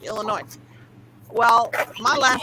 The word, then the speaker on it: Illinois: you you're not alexa when you say louisville you don't have the s in it it's not really you can't hear it right look like illinois well my last name